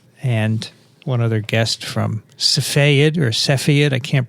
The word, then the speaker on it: Cepheid: ago laureen mascola and one other guest from safayad or cepheid i can't pronounce it michael cepheid cepheid really cool stuff laureen is a head